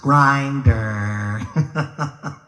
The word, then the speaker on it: Grindr: And I found something called Grindr. Have you heard of Grindr? Yeah. I'm not finding the right girl there. Of course, John Travolta told me it's pronounced Grinder.